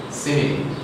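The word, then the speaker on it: simile: f i l e the pronunciation is simi if you use silly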